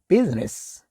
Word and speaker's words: business: 그 다음에 business. 좀 유의해야 될 게 뒤에 I는 거의 묵음처럼 들린다라고 알고 계시면 되겠습니다.